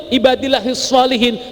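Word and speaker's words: عباد الله الصالحين: contoh akan berakibat fatal kalau bapak ibu mengucapkan Assalamu Alaina waala ibadillahi heels Solihin itu yang betul ibadillahis Shalihin tapi kalau sampeyan salah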